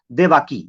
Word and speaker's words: देवकी: उसकी एक बीवी थी जिस बीवी का नाम था देवाकी, या देवकी उसे कह सकते हैं, ये देवकी कह सकते हैं, ये देवाकी कह सकते हैं, ऐसी तरह प्रोनाउंसिएशन है, देवाकी या देवकी।